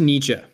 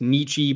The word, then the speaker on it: Nietzsche: results today now onto nietzsche uh you may hear it pronounced nietzsche by some people i think that sounds weird so i and my professors in college said nietzsche so i just say nietzsche because yeah i don't